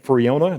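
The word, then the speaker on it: Friona: 15 years i've been a church elder named freona that's how you pronounce that freona texas man of the year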